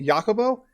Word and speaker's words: Jacobo: I've learned how to pronunciate his name properly, Jacobo. So yes, correct.